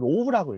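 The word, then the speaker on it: ρ: 이거를 로우라고 읽어요. 로우.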